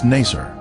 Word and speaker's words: Naser: the oozing gilly village its former name in the 19th century was naser this pronunciation is similar to nicer a village that the